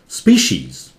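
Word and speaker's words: species: ये स्पीशीज, स्पी वहां एस पी बहुत जल्दी से, स्पी स्पी शीज, ये सी का उच्चारण तालव्य स्व जैसा है, शी और इसका ज. तीन तरह के स, स, श, ज साउंड है इसमें छोटा सा.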